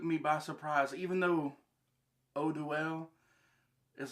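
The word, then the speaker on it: Eau Duelle: This right here, Eau Duel. I've been corrected by a few people. They told me that I was pronouncing it wrong, saying Eau Duel. It's Eau Duel. Just like Eau de Parfum.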